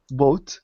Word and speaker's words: boat: what about boot sorry O A like goat oh co yeah exactly coat goat goat boat yeah boat like uh the best